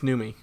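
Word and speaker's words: Noomi: Naomi repace possibly well there's no Naomi it's numi oh uh either way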